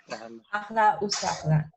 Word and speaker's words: أهلا وسهلا: ahla wa sahla.